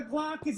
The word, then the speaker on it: Glaucus: Eat your vegetables, kids, or the Glaucus is gonna come see you tonight. Release the Glaucus! Just doesn't have the same thing as Kraken. That's true. The hard C.